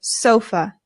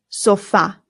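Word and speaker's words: sofá: In English, we put the stress on the O and we say sofa. But in Spanish, the stress goes on the A. And we know that because of the accent right here. So it becomes el sofa.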